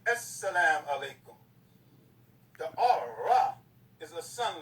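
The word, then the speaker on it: السلام عليكم: S is a sun letter. That's why they say As-salam alaikum. You see the S is twice. As-salam alaikum.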